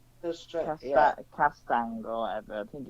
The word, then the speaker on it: Castagne: Yeah, both Timothy can't pronounce his name either. Timothy Castron. There we go. Castagne. Yeah. Castang or whatever.